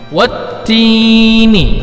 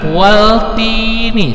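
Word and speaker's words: وَالتِّينِ: Dengan mentasydidkan huruf ta cara membacanya. Wattini, jangan waltini, salah. Tetapi wattini.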